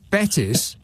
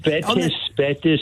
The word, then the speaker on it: Betws: Is it Betis? BETWS or something like that? W in Welsh is pronounced ooh.